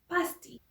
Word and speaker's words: Paste: Very popular from this town, it's a dish called paste. I believe the proper pronunciation in British English is pasty.